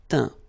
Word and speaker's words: teint: Okay, as usual, final T not pronounced. Atteint, éteint, feint, peint, teint.